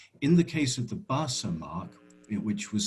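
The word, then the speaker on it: Barça: mark just of um a voice saying basa which is the name of a football team barcelona that's how it's pronounced and in fact there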